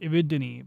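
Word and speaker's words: Epsilon Eridani: survive interstellar look it's epsilon Iridani in some audio books it's pronounced Iridini but I think irreridani sounds cooler their distances is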